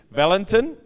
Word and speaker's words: Valentin: Valentin. Yep. He told me tonight I've been saying his name wrong, which I feel really, really bad about, but he was kind enough not to be upset.